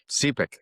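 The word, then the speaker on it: Sepik: remote villages along the Cipic River. Am I saying it right? Cepic. That's it.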